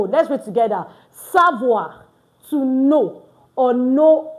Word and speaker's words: savoir: Don't forget we don't pronounce our S. We don't pronounce our T. We don't pronounce our E N T at the end of our verbs in French. So savo the verb to know.